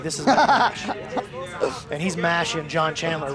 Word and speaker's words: Mash: You know, Matt's name is actually pronounced Matt Mosh, but not in the PGF, baby. This is Matt Mash.